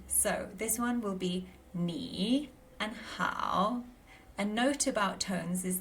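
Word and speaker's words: 你好: So, this one will be knee and how. A note about tones is that when ni and how go together, there's a slight pronunciation change. So ni becomes second tone and how becomes third.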